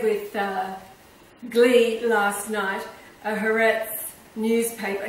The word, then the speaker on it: Haaretz: glee last night a Haaretz newspaper. Now, Haaretz rhymes with Tourette's, you know, that syndrome